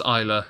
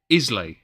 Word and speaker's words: Islay: Scott's Dragon, we had to learn it was Islay from my dad, who doesn't even like Islay whiskey. We before then were saying Islay.